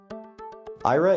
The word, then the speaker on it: Aira: IRA is a it's spelled a IRA and it is a company